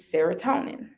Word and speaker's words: serotonin: After you have sex, your body also releases serotonin, rhymes with melatonin.